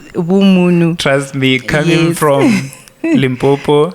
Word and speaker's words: Vhumunu: We avoided the VHU because now you might, my coach, simplicity, say Vu Farms, whereas it's Vumunu.